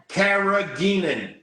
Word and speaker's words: carrageenan: Carrageenan.